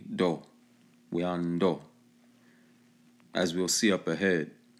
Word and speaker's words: Oueanto: Here's their terminology in the language pronounced Oueanto. Okay, the T is pronounced like a D, do, Oueanto, as we'll see up ahead.